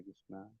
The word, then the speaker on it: कृष्ण: सटीक उच्चारण तो कृष्ण है, कृष्ण ऐसा है।